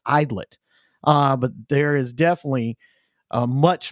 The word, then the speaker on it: Aydlett: In case you're wondering how to pronounce Aydlett, it's Idlet.